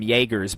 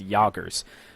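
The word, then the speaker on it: Jägers: So I've been pronouncing them Jaegers, but after a bit of research, I've found out that I think the proper pronunciation is Jagers.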